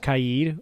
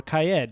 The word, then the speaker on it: Kaid: Yeah, and then Kaid, which turns out his name is pronounced Kaid or Kaed, depending on which Ubi employee you listen to.